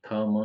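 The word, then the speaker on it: thumb: ध्यान रखना है कि थ म है इसमें ब नहीं टी एच इंग्लिश वाले को ही ध्यान रखना थम ब साइलेंट है अब इसमें वेडनेसडे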